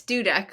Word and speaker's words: Dudek: It's Dudek, like you built a Dudek.